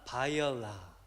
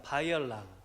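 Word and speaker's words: Баярлалаа: 바이올라. 여러분, 제가 설명을 안 해드렸는데 센 베노는 안녕하세요라는 몽골식 인사가 되겠고요. 다시 한번 발음하겠습니다. 바이올라.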